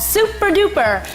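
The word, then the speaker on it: SuperDuper!: app for them called super duper and yes you have to say it like that cuz there's an exclamation mark at the end of the name super duper Andy somebody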